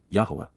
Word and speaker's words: Yahowah: the appearance of, Yahowah, Yahowah, the proper pronunciation of the name of Eloah, God as directed in his Torah, teaching regarding his Haya.